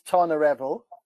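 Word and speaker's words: Tonyrefail: Tony Raphael. Brilliant. That's it. Enos Ebol. No, say that one again, please. Enos Ebol. The last bit's not too bad. So the first one is Tonarevol.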